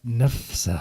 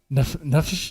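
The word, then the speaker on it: נפש: The Hebrew for soul is nefsa. I mispronounce that. Nefesh, whatever. a living creature.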